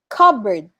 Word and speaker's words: cupboard: not cupboard it's cupboard cupboard cupboard okay so we don't say the letter p cupboards are the kitchen